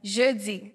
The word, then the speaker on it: Jeudy: What, how do you say the last name? Jeudy. Jeudy. It's like French.